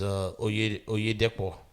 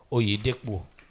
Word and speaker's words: Oyedepo: It's Oyedepo. Did I pronounce that right? Oh, yeah, Depo. Oyedepo.